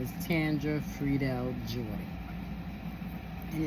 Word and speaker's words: Tangra: was her name Tandra it's pronounced with a d but spelled with a G it's t a n